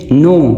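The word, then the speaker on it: know: नो नो के silent है।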